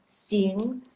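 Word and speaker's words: 行: Jadi kalau untuk pelafalannya itu dia x, i, n, g, penekanannya agak di n, g. Jadi biar biar pelafalannya bagus, penekanannya lebih bagus di n, g. Gitu. Jadi sing.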